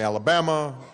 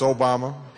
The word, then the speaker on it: Obama: name Barack Obama although nobody would pronounce it right so they'd call me Alabama or Y mama and I'd had to explain uh no it's it's Obama my father is from